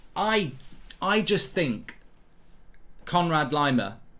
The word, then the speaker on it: Laimer: i just think conrad lima or however you pronounce it leymah lima lemaire it's not lemaire um he's absolutely perfect